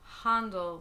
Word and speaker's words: Händel: his name what if his last name definitely was pronounced handled with a like soft a sound not handle